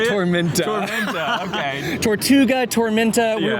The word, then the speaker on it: Tormenta: Yeah, and the next dive coaster we're probably going to ride is Tortuga, right? Is that how you say it? Tormenta.